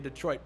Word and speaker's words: Detroit: Ain't no party like a Detroit party. Or as they like to say, a Detroit party. Locals like to stress the first syllable a lot.